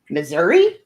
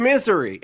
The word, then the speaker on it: Missouri: It's literally called misery. I swear to God. It's like, why would you have the Garden of Eden and it's called misery? Son, that's because you're pronouncing it wrong. It's Missouri. Anyone who God has chosen